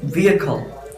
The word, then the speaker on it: vehicle: It is wrong. Its pronunciation is vehicle.